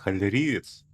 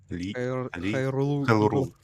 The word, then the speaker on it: Хайрул: Не, она видит сквозь нашу иллюзию, что мы Господи, как произносится? Халериец? Хайрул. Хайрул, да.